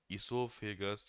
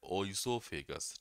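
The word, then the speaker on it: oesophagus: इसोफेगस बोलो या ओइसोफेगस बोलो, हिंदी में क्या कहते हैं, आपका ग्रास नली कहते हैं।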